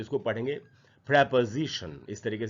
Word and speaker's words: preposition: इसको भी हम लोग अक्सर प्रीपोजिशन पढ़ लेते हैं। इसका करेक्ट प्रोनाउंसिएशन है प्रेपोजिशन। अगर आप देखें जो ट्रांसक्रिप्शन के सामने जो हिंदी में लिखा है प्रोनाउंसिएशन, तो यहाँ प्रे के बाद प है, प के बाद आधा अ है, यानी प पर थोड़ा सा रुकना है हमको, और उसके बाद जी और शन, तो इसको पढ़ेंगे प्रेपोजिशन, इस तरीके से पढ़ेंगे।